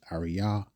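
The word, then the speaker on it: ארי: Ari, or we would pronounce it as Ariyah, meaning generic lion, mature lion.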